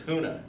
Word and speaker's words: Huna: So what I'm going to talk about today is Huna. It's spelled H-U-N-A. If you forget how it goes, just think of an old guy coughing. Huna! That kind of thing, right? It's like that.